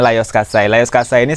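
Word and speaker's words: Lajos Kassai: itu teman-teman bisa lihat atas nama layer style atau tulisannya lajos qusaidah beres bacanya layar khaini salah satu pemenang berkuda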